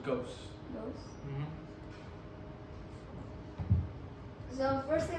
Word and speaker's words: Ghaos: It's just pronounced. It's very simple. It's like ghost with no T, so just ghost.